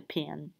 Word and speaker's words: pen: write with right the pin um and people in the south uh even though it's um spell p-e-n they would pronounce it pin like p-i-n um some other iso